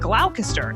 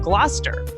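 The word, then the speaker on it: Gloucester: Like originally I said glalcaster instead of gluster.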